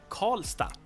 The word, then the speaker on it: Karlstad: city in Swedish but in most city names you would pronounce it as sta. So in this case we have Karlstad the city or town